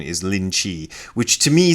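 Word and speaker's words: Linji: The Rinzai sect of Zen is named after a guy, Rinzai, and his Chinese pronunciation, or at least Mandarin pronunciation, is Lin Chi, which to me sounds vaguely like Rinzai, so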